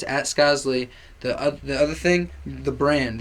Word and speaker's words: Skozzlee: You can find me, Skozzlee, at Skozzlee, SKOZZLEE. Okay? SKOZZLEE. And the pronunciation, Skozzlee. That's it. It's not Skozzle, not Skozzlee, not Skozzlee. It's just Skozzlee. And if you can't say that, just say Skoz.